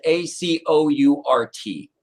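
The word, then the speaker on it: Acourt: So I found the word Acort, but it's spelled A-C-O-U-R-T.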